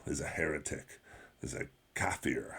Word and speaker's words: kafir: a heretic, is a kafir, I believe is how it's pronounced in Arabic.